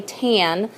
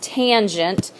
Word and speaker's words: tangent: its abbreviated ta M but you don't say tan its tangent and it's opposite over